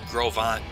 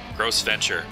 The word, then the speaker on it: Gros Ventre: Well, it's pronounced Gros Vont, but spelled like Gross Venture.